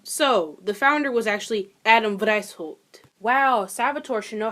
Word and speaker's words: Adam Weishaupt: So, the founder was actually Adam Weishaupt. Wow, Salvatore should know how to pronounce a German last name considering she's been speaking German for almost a year.